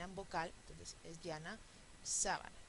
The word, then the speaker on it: sábana: vocal Entonces es llana sábana es estrujula y por eso lleva t Ah y quiero